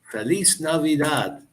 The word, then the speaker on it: Feliz Navidad: for you Feliz Navidad Feliz Navidad and I don't remember if you uh if I was telling you about how the the Mexican the Spanish language is the letter i is pronounced e so and it's exactly